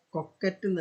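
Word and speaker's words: coquette: ഒരു പുതിയൊരു വാക്ക് കിടക്കുന്നത് കൊക്കറ്റ് കൊക്കറ്റ് ആയിരിക്കണം അതിന്റെ മലയാളം വേർഷൻ വരുന്നത് ഉച്ചാരണം സി ഓ ക്യു യു ഇ ടി ടി ഐ എസ് എച്ച് ഇത് വലിയൊരു അപകടം പിടിച്ച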